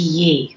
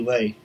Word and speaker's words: Yee: It's Yee. Y with a Y. No disrespect. It's okay. I have it on my phone, Texas Speech, so I was pronouncing it Lee. Yeah, it's with a Y.